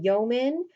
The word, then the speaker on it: yeoman: Toward, and number 20, a yeoman is how you say that word, yeoman.